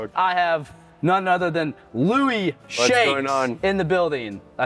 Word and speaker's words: Louis: who cares yes I have none other than Louie in the building I say that right you